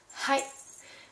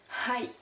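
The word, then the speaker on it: はい: n merci donc oui hi donc là c'est très important aussi de bien prononcer le H parce que hi ça veut dire oui mais a ça veut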